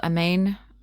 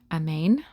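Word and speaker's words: Amane: In this world, Amain, I think that's how you pronounce it, A M A N E. Amain is born via old-fashioned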